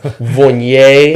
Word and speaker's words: Viognier: Vign, you know, it's really vignet is how we're supposed to say it.